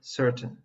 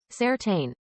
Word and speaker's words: certain: Giving extra attention to the ai at the end of the word because we don't say it like certain. It should actually be certain. That's correct. Look at the words curtain and mountain. They do not rhyme with words like pain and gain. Certain and mountain rhyme with fountain.